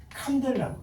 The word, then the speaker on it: 칸델라: 그래서 cd라고 해서 칸델라 칸델라 캔들라고 저잖아. 칸델라라고 읽어요.